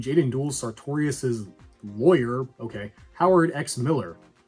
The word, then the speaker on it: Howard X Miller: Howard X Miller. Yes, you pronounce the X.